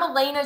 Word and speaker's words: Elena: is totally fine but I'm Elena that's how you say my name it's one of those